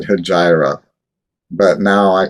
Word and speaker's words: Hejira: but not least soup i've always called it hajira and you know it's funny because i was so young when i first heard the album so i must have heard a dj or somebody pronounce it hijira and you know joni calls it that so i'm going to keep saying all right so i'm